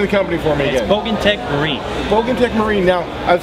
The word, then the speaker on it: Bogantec Marine: meet you sir nice to meet you too pronounce the name of the company for me again bog Tech marine bog Tech Marine now I've seen a lot